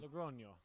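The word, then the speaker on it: Logroño: or Logrono, I can't not sure how to pronounce it and Logrono.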